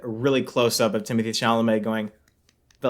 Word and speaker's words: Chalamet: it cut to a really close-up of Timothy Chalamet going, but, like, no sound was coming out of his hands.